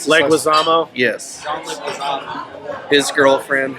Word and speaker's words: Leguizamo: How do you pronounce his last- Leguizamo.